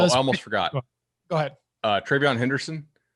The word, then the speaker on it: Travion: Travion Henderson. It's spelled like Treveyon. So if Google autocorrects you, go with it.